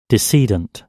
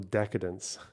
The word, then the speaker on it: decedent: Give me pronunciation. Decedent. Decedent. Oh, because they're dead. Jesus Christ. um of the deedants and firing several times, not the decadence.